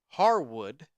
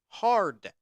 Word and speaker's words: Harwood: But I have heard Dax's last name pronounced two different ways. There is Harwood, Harwood, and I've also heard people call him Dax Hardwood, Hardwood. Now, I'm pretty sure I've always seen it as Harwood, so I hope I'm correct there. I hope that he does not seriously have the last name of Hardwood.